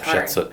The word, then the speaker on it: Hatshepsut: Yeah, it's Hatshepsut.